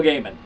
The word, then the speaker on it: Gaiman: name Neil Gaiman and for years I I said diamond but Neil Gaiman says it's Neil Gaiman there's literally a video